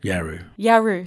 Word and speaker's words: Yawuru: So you're a Yawuru man, have I pronounced that? Yawuru, sorry, from Broome.